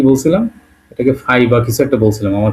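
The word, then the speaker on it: Ф: ভাষায় কি বলা হয় গোল দিয়ে মাঝখান দিয়ে ফাকা করে দিলাম হচ্ছে না আমার ভালো এইযে এটাকে আমরা বলতেছি এবং উচ্চারণটা হবে কিসের মতো?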